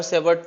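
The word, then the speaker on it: Savart: ठीक है तो बायो बायो सेवर्ट में टी साइलेंट है ऐसे नाम पता नहीं क्यों रखते थे बायो सेव टी बोलना है मगर साइलेंटली बोलना बायो सेव मतलब अंदर से टी आना चाहिए ऐसा तो यह करंट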